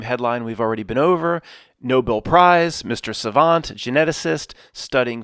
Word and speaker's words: Nobel: Neanderthal bones and Matt why you keep saying Noble because I choose to mispronounce it I I'm intelligent enough to know it's the Nobel Prize in Philly it's worth